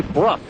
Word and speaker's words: Bruff: This is a Bruff, B-R-U-F-F, how it's pronounced.